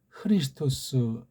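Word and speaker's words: Χριστός: 그 말씀입니다 예수는 이제 원래이 본디 발음이 이예수 스고 그다음에 주는 퀴리오스 그리스도는 크리스토스 이렇게 음역을 해야 합니다 근데 요거 이수랑 그리스도는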